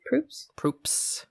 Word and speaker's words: Proops: Greg Proops is how you say it? Proops.